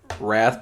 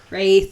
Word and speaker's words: wraith: shiny butterflies wrath wrath Wraith the butterflies okay sorry I get it right R the word too and spelled the same there's an eye in wraith that is not in Wrath thank you yeah yeah